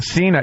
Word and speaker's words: Cena: Is that pronounced Cena? Cena.